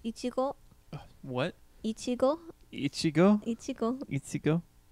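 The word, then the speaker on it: いちご: So in Japanese it's ichigo, What?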